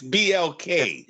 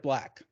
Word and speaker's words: BLK: It's BLK. Yes, it's BLK because they're capitalized. It's But not how a do word. you? So I've got to say BLK instead of black.